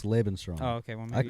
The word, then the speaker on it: Lebensraum: I swear to God, it's Lebensraum.